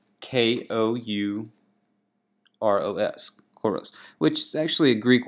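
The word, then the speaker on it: kouros: And so that stance, that pose is called basically what this sculpture is called, choros, which is spelt here again. It's spelt K-O-U-R-O-S, choros, which is actually a Greek word that means male youth.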